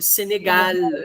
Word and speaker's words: Senegal: Esse L do céu da boca, no céu da boca, ó. Esse L final é lá no céu da boca. Senegal. Senegal. A língua dá uma voltinha.